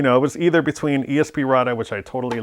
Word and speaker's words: ESP Ra.De: It actually says it Esperade on the actual game when you let it run in the track mode.